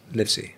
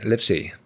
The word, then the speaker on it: Livesey: Your surname, mate, is it pronounced Livesey? Livesey, yeah. Livesey. Fucking hell, mate. One of the first people ever that said it right.